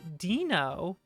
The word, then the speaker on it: DNO: have a wonderful guest by the name of dino or dino dino please or as i say dino pulse i always pronounce it dino poles uh and if you